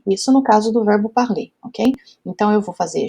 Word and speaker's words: parler: Então, atenção à pronúncia, hein? Parler, aqui a gente tem um som de E com acento circunflexo, né?